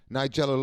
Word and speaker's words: Nigella: This is how do you pronounce her name? Nigella, is it? Nigella Lawson.